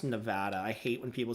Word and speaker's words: Nevada: Also, it's pronounced Nevada. I hate when people say Nevada.